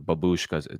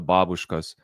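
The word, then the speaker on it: бабушка: Americans like to pronounce them babushkas. The babushkas.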